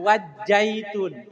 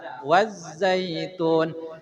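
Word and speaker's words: وَالزَّيْتُونِ: angin pecahan wazzaitun wazzaiun Za jangan wajzaitun tapi wazza wazzaitun Azza Asa aso Azza Asa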